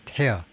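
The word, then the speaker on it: tear: 두 가지 발음이 있는데이 가든 Bright T에서는 이티어 res with a어 에어 그래서 태어 아 태어라고 해야 된다. 찌 찢다요 태어 눈물이 아니고 티어가 아니고 태어라고 발음해야 된다는 거죠.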